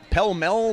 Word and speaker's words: Pall Mall: I went to Pell Mell. What the hell? It says Pall Mall.